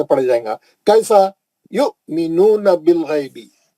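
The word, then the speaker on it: يُؤْمِنُونَ: है आपको आयत जो मैं लाल करा, अल्लज़ीना युमिनूना, युमिनूना, क्यों? हमजा पे जज़म है, वहां वाव तो खाली साइलेंट है, हमजा लिखने के वास्ते इस्तेमाल करा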